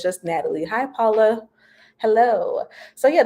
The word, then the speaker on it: Nataleh: The H is silent, so it's just Natalie.